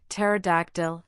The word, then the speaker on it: pterodactyl: In words derived from Greek, the initial P in the diagraph PS is silent as in psychology. pterodactyl and pneumatic.